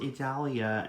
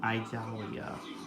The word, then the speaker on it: Idalia: So it's pronounced Idalia and not Idalia, huh?